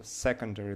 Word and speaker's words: secondary: So secondary, the first syllable is stressed and the eighth decoration.